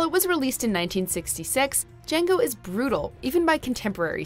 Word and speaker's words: Django: Number 4, Django. The D is silent. You've undoubtedly heard of Django Unchained, but only the